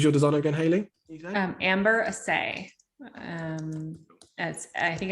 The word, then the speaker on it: Asay: Amber Asay. I think it's so Amber, and then Asay is spelled ASAY, and her studio is Nice People.